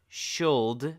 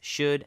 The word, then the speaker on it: should: and could as well it's not sholde or cold it should and would absolutely no L sound whatsoever English it's very